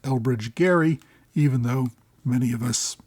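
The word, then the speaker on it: Elbridge Gerry: So gerrymander uses a soft G while the person for whom it is named Elbridge Gary uses a hard G.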